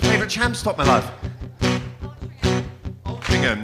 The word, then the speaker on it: Altrincham: Altrincham, no. Only rhymes with cum and bum and mum.